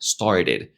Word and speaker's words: started: entender fue esta palabra started. Me costaba muchísimo, muchísimo decirla, started. Yo lo intenté decir por muchísimo tiempo y siempre me salía algo como started, started, started. No pronunciaba bien ese sonido de flap, decía started, started.